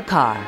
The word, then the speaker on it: Kerr: Deborah Kerr. It still rhymes with star.